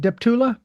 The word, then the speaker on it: Deptula: Now, your last name is pronounced Deptoula. Depula. Yes, sir.